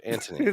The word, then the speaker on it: Antony: It was pronounced Mark Antony. The H is silent. Like the G in lasagna.